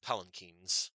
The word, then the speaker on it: palanquin: It's pronounced palanquins.